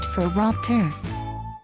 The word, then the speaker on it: phoropter: Focusing on vision, the large device with a bunch of lenses on it is called a phoropter, pronounced phoropter.